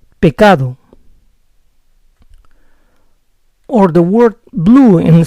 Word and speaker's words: pecado: If I say pecado, I made 4 errors. I pronounce P and C too strong and made the letter D resemble like a soft R. On top of that, I pronounce the last vowel as O. It has to be like this: pecado, pecado. Remember, soften the P and C, pronounce D clearly, and don't say O, because the vowel is O, pecado.